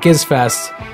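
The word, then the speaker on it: Gizzfest: in Australia it's right it's called Giz fest and that's with a hard G there are bands that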